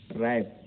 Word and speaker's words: wrap: Silence WR से पहले किसी शब्द के आरंभ में या ओ वर्ण के पहले, जैसे रैप, रैप देखिए RAP हो सकता था कि W से होता है, WRAP, रैप, रैप में लपेटना।